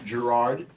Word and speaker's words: Gerard: Joe and Jeremy Gerard, soft G.